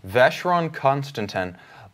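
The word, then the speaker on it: Vacheron Constantin: choice for this the year because I'm gonna butcher the name so let you say it okay Veche wrong constant n like happy note ei Celestia astra no Meah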